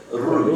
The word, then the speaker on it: ruach: Say, ruach. You have to roll your R.